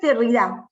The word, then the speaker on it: Derrida: esos es jacques derrida jacques derrida porque se escribe sin acento pero en francés la última vocal siempre se acentúa la caridad toma de